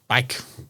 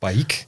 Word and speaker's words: BAIC: Now, BAIC. I think that's how you pronounce it. Not BAIC. BAIC. BAIC. Yeah, I see.